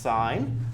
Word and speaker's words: sin: these boxes here there's a sin one is pronounced sine there's a cost one that's pronounced cosine there's